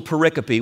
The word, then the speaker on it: pericope: Jesus reaches for the first analogy in this little pericope, which is basically a big word that John made up to mean, I'm kidding, he didn't.